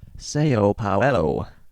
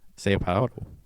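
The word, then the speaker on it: São Paulo: been sa Paulo Salo it's pronounced seop poo seop poo uhuh they speak Portuguese not so H It's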